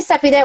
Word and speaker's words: Cepee: You can call me Cepee. Why don't you call me Cepee? Most people call me Cepee. I tell them Cepee rhymes with Peppy, but Cepee is a